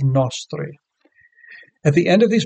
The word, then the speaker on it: nostri: And miserere nostri goes to the first syllable of nostri.